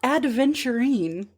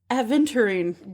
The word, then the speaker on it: aventurine: It's not adventurine. It's aventurine.